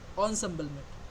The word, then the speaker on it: ensemble: emble method okay or Ensemble method it is pronounced that onbl okay so this is the thing I have